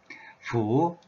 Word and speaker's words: 乀: 과거형 분사 양이죠 예 중국어 발음은 후 이성 입니다 아래에서 위로 올라가는 소리죠 이성 하구 자 그럼 이제 뭐